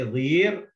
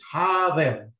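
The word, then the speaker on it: حاضر: You cannot say vir, it's a vi, because it just has a kasra, so it, the way to pronounce it is ha-vir. Okay? Ha-vir. You prolong the ha, but the va is just simple and okay, Hadar, you know what that means?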